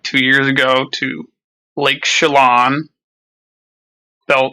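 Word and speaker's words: Chelan: I just I went like two years ago to Lake Shalon. Bel it's beautiful. It's It is pronounced that way.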